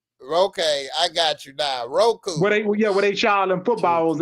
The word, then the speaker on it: Roku: it's spelled WACO. No, it's ROK. Roku.